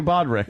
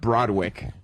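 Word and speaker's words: Broderick: Matthew Bodrick. It's pronounced Broad-wick Yes, Broadway.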